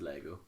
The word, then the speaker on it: Lego: Would you rather have a bottomless box of Legos or a bottomless what? Nope, it's not how you say it. What? It's Lego, singular. Yeah, but okay.